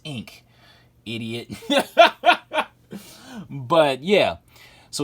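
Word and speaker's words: Inque: it's spelled I'm so dyslexic I I kept pronouncing it in queue or inkay but then I realized I was its ink idiot yeah but yeah so we have Batman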